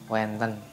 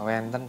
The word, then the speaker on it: wenten: Selanjutnya kata wenten. Wenten kalau dalam bahasa Jawa pada umumnya itu biasanya diucapkan dengan kata wonten. Jadi sama ya, wenten dengan wonten. Kalau Bagongan, wenten.